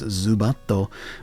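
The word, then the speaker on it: ズバット: In Japanese, Zubat is known as Zubato, which comes from the Japanese pronunciation of bat, as well as the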